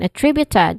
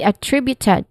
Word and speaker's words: attributed: is awa sound and then tree tri I mean tri which is the stress syllable here and then uh short oo sound and then it ends with ted.